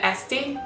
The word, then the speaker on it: Esti: I don't know if you remember from my previous videos, S, just like in my name Esti, S and Z is one letter and you pronounce it S.